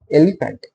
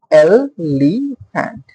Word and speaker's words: elephant: Elephant. Elephant. First stress is on L. Elephant.